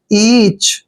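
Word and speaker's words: each: हम च पढ़ते हैं ईच इच नहीं पढ़ना आपने ईच पढ़ना है ईच होता है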